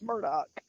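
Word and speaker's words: Murdaugh: it's so it's just it's spelled like murder though i know but it's murdock i wonder if i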